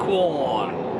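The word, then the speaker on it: Quorn: We're on the road to Corn. We think that's how you pronounce it. Is that right? That's how we say it. Corn. How do you spell it? Q-U-O-R-N. There you go. Corn.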